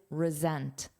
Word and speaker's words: resent: Sentent, but this verb is resent. It's a voiced sound.